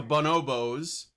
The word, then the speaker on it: bonobo: And she's using the Bonobos cuz that's how you say it. It's bonobo.